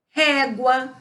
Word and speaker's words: régua: Régua, saguão, língua, égua, guarita. Todas estas palavras, elas têm o quê? O U sendo pronunciado.